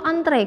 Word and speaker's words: antre: Antri atau antre kira-kira. Yang betulnya ya, bukan yang sering digunakan. Yang betulnya adalah antre. Itu bahasa bakunya. Jadi bukan hey antri dong, bukan antri, tapi antre, dan dibacanya juga antre.